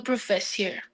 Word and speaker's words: professeur: This EU is an u. It's a diphthong on one syllable. Le professeur. EU.